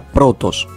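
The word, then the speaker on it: πρῶτος: Bien, entonces, por ejemplo, una palabra properispómena es la palabra protos. Protos es una palabra properispómena, ya que en su forma léxica tiene acento circunflejo en la penúltima sílaba.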